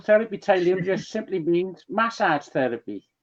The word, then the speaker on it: Tylino: Roger Daniels from Therapi Tylino. Therapy Tylino just simply means massage therapy.